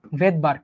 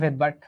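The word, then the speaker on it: Svedberg: ভেদবার্গ, বানানটা খেয়াল করো, এই যে এস মানে হচ্ছে ভেদবার্গ। একটা সুনামির মধ্যে যেমন পি উজ্জ থাকে, নিউমোনিয়াতে যেমন পি উজ্জ থাকে বা সাইলেন্ট থাকে, এরকম ভেদবার্গে এসটা উজ্জ থাকবে।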